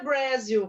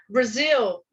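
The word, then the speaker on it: Brazil: jeito que inglês então o Brasil por exemplo ele é escrito com z e a pronúncia não é Brasil como algumas pessoas falam e sim Brasil assim como é uma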